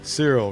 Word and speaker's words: Cyril: Cyril, right. I knew it was something. Rhymes with cereal.